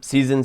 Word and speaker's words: SZNZ: bigger project seasons um seasons is spelled sznz or for you americans